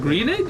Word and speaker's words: Groening: I think it's can't Greening. pronounce- Greening?